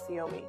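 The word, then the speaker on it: Ciomy: I have to agree with that one um siomi because I don't want to tell everyone how it's pronounced and they did pronounce it for me siomi it's really cute c i o m y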